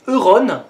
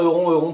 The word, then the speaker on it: Euron: Enfin je suppose qu'on dit Euron, ça s'écrit Euron, mais Ballon ça s'écrit ballon et ça se prononce Ballon. Donc Euron ça s'écrit Euron mais ça se prononce Euron, non? Je sais pas.